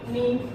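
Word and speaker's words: know: उसके बाद एक और एग्जांपल लेते हैं हम कि अगर एन से पहले कभी भी के आएगा तो के साइलेंट होगा। बहुत सारे एग्जांपल है हमारे पास। नी, नॉलेज, नो, बहुत ऐसे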